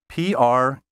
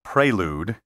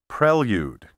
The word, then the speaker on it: prelude: us about the atmospheric conditions how do you pronounce the word spelled p-r-e-l-u-d-e don't say Prelude that's a Vogue pronunciation the preferred pronunciation is Prelude with Prelude as an acceptable alternative the pronunciations